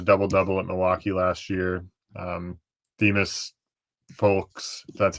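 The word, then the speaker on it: Themus Fulks: Demas Folks, that's how you say his name, coming over from Milwaukee as well.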